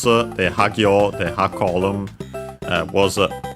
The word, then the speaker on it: は: Only wa remained, which can be seen also in the topic particle. We can see here written as ha, but pronounced as wa because of that.